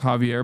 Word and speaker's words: Xavier: Xavier's pronounced Javier by the way.